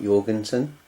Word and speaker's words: Jorgenson: to me something like Jorgenson but that's j o r but pronounced like with a y yeah so it's jensson